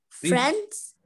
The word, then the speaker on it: friends: لكن في الامريكان اكسنت when the letter d comes after the letter n we don't pronounce the letter d like Wednesday, handsome, hands, grandpa, grandma، لكن دي بقول عليها فريندز في الامريكان.